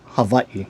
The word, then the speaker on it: Hawaii: So say like Hawaii right is actually should be pronounced havi and you might hear it said like that sometimes and be wondering why that is why.